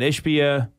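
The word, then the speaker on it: Ishbia: now I might have chosen different words Matt ishpia we looked up the pronunciation the um CEO of United Wholesale Mortgage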